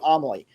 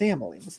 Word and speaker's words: Amalie: don't know the Lightning, they'll call it Amalie. It's like, come on, man, it's Amalie.